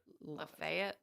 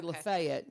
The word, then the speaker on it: Lafayette: and we have a street L A Leet. No. Yeah, you're supposed to We say Lefayet.